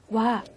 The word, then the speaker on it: は: 없는 해당하는 조사에 요 발음이 주의 하셔야 되는데요 쓰기는 하 악 으로 쓰지만 조사로 쓰였을 때 에는 발음을 와 로 해주셔야 되요 중요하고요 자 그리고 이